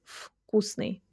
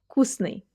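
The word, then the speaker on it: вкусный: In Russian it often happens that voiced consonants at the beginning of words are pronounced as their voiceless twins. So we say not "vkusny" but we say "vkusny". "vkusny" Next one, "ya sizhu i smotryu vakno".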